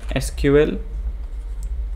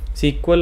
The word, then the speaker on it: SQL: Industry में वो हैं एसक्यूएल एंड नो एसक्यूएल, सीक्वल और नो सीक्वल। कुछ लोग सीक्वल भी प्रोनाउंस करते हैं, सीक्वल इसलिए क्योंकि सीक्वेंस में चीज़ें स्टोर होती हैं।